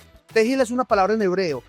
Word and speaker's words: Tehillah: Tequila, tequila. Tequila, tejilla. Y bueno, no saben al principio pronunciar. Tegil es una palabra en hebreo, traduce alabanza pública a Jesucristo.